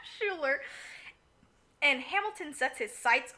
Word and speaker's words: Schuyler: Schuler. Schuler.